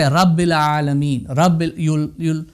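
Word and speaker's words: رب العالمين: So you'll say Rabbil Alameen. You'll just blend it in.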